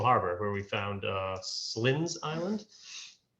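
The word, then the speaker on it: Cylends: where we found uh slins island this is not how you spell slins that's how you pronounce it it's right cy uh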